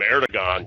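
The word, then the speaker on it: Erdoğan: right first of all the way the turks pronounce that uh that g in there it's really it's it's almost as a w sound error to one is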